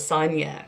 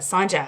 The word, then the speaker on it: Sanjay: really do like that i just thought it was sonja just this silent j but sanjay i like that i